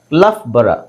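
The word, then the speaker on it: Loughborough: ಬಂದ್ರೆ ಅವಾಗ ನಿಮಗೆ ಗೊತ್ತಾಗಬೇಕಲ್ವ ಮತ್ತೆ ಇನ್ನೊಂದು ಪದ ನೋಡಿ ಲಫ್ ಬರ ಇದನ್ನ ಎಲ್ ಓ ಯುಜಿಎಚ್ ಇಲ್ಲಿ ಲಾಕ್ ಆಗುತ್ತೆ ಬಟ್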